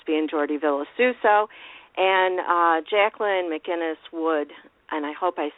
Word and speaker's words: McInnes: And Jacqueline McInnes Wood, and I hope I say her name correctly because I'm not quite sure. It's McInnes, right? McInnes, yes.